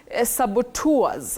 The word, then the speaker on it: saboteur: Betty, you say saboteur. Saboteur. Saboteur, the saboteurs.